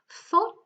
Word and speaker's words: thought: Thought, it's T. There is no GH pronounced, thought.